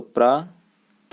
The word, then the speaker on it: प्रातः: जैसे आप लिखेंगे प्रातः है तो प्रा त और पीछे बिंदी लगाते हैं, तो प्रात न लिख के इसको क्या बोलते हैं हम, प्रातः, ह जैसा यहाँ पे उच्चारण होता है।